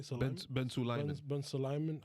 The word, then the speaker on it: Ben Sulayem: Ben Sulayem.